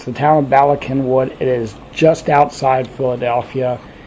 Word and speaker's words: Cynwyd: It's Bala is B-A-L-A, which is kind of obvious, but Kenwood is spelled C-Y-N-W-Y-D. It's a Welsh thing, but it's the town of Bala Kenwood.